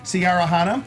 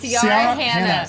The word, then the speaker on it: Ciara Hanna: We'll be talking to Ciara Hanna. She told me it rhymes with Tiara Banana. Oh, I said her name so wrong. It's okay. It's Ciara Hanna.